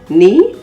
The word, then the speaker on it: knee: at the beginning of words like nak k-n-a-c-k knee k-n-e-e knife k-n-i-f-e knowledge k-n-o-w e and knob